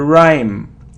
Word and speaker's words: rhyme: so prim or rhyme it's a rhyme rhyme so we don't pronounce H rhyme okay so surround geniune